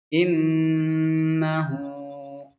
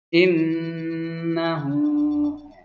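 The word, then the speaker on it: إنّه: Nun tasydid asalnya seperti ini. Nunnya 2. Nun yang pertama sukun, yang kedua berbaris. Yang ditahan, yang didengungkan di nun yang sukun ini. Ya, walaupun 1 bacanya 2 ya karena ditahan. Innahu. Jadi 3 nunnya ya. Karena yang sukun ini dibaca panjang menjadi 2 harakat. Ini 2 harakat, ini 1. Jadi 3 nun tasydidnya.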